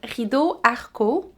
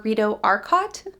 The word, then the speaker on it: Rideau Arcott: This month's wool is Rideau Arcott or Rideau Arcott, depending on how you want to pronounce it.